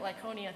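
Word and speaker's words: Lycaonia: of like tonia and i looked up how to say it i'd be much better with the hebrew words than the greek words so we're calling it lyconia today and to the surrounding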